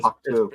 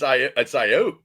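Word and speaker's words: Aiyuk: Brandon Atuk. It's Ayuk, Coach. Ah, yeah. Bless you. Ayuk. Not Oak.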